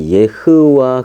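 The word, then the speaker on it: יהוה: 누구냐면 예호와 해보세요 그러니까 예호와 라기보다는 이제 다른 사람들은 야하 외에 이렇게도 얘기하지만 원래 히브리는 예흐와 그래요 그게 정확한 발음이에요 그래서 예전에는 어떻게 했느냐면은이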